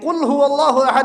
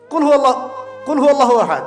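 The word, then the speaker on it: قل هو الله أحد: এটা উচ্চারণই বা কেমন করে করতে হয়? কুল, বলুন, হুয়াল্লাহু আহাদ, তিনি আল্লাহ এক। এই যে কুল হুয়াল্লাহু আহাদ অনেকেই বলতে পারে না। কুল হুয়াল্লাহু আহাদ, এটা কি সব একসাথে মিলে একটা শব্দ?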